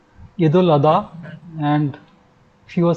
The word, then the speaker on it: Eid al-Adha: Very true, because see, it's a Shia and Sunni way of saying it. Okay. Earlier it was used, it used to be pronounced as Eid al-Zuha, and now because we are using the Saudi thing, so it is known as Eid al-Adha.